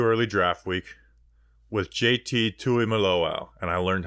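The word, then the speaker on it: Tuimoloau: off way too early draft week with JT Tui maloau and I learned how to pronounce that name it's like suck it the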